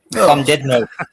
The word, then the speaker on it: Llandudno: Llandudno. It's just full of- Llandudno.